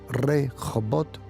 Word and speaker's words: Rehobot: Pero luego dice la Biblia que de allí se fue a un lugar llamado Rehobot. Rehobot, interesante. Lugar amplio. Rehobot, como se pronuncia en hebreo, significa el lugar espacioso.